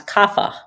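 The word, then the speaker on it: Kapha: okay it's actually k a p ha a pronounce kafa kafa okay perfect so comb this reminds me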